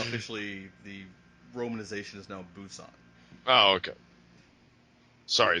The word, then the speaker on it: Busan: Pusan. It's actually pronounced Busan, apparently. Oh, is it? Oh, okay. All Yeah. right. Sorry. We were always Oh, saying it wrong back then. we always said it as Pusan on the ship.